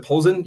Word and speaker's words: Polzin: Julian Polzin. I'm sorry if I'm pronouncing your your name. Is it Polzin? You You pronounce it right?